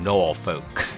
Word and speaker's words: Norfolk: I don't like that he's saying Norfolk. It's Norfolk, alright? It's Nor-fucking-fuck. Alright? That's how it's pronounced.